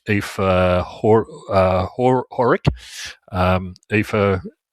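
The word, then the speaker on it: Aoife: Um Eva, uh for those of you don't speak Gaelic, is spelled A E I O F E. So, don't use or something. Yeah, don't don't use phonetics.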